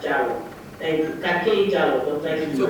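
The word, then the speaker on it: Dialo: It's just spelled in a French way. That's the name I got for my husband from Ivory Coast. So it's a French spelling. So I just want people to pronounce it as Jallo.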